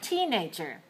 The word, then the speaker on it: teenager: Now, here's another one that I often hear people mispronounce, misstress, and that's the word teenager. Teenager.